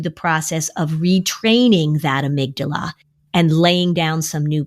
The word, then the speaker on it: amygdala: There was one little girl who called it her Amy G. Dalla, because that's the way it looks like when it's spelled.